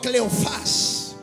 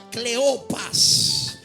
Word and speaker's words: Cleofás: Diga conmigo: Cleofás. Esta palabra viene del original griego y se pronuncia Cleopas.